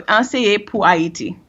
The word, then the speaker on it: Anseye Pou Ayiti: create Teach for Haiti, or how do you say, Anseye Pou Haiti? Yeah, very close. So Anseye Pou Ayiti.